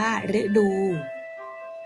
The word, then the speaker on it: ฤดู: อ่าน ว่า ทฤษฎี หรือ ตัว นี้ อาจ จะ ออก เสียง เป็น รึ เช่น ฤดู อ่าน ว่า ฤดู ฤาษี อ่าน ว่า ฤาษี